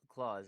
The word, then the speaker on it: Claus: You said it was Claus, right? Claus. Yeah. Santa. Santa Claus.